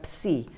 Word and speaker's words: psi: Psi. Y me dice, ¿cómo se sabe que se pronunciaba psi? Y digo, porque así pronunciaban los griegos antiguos.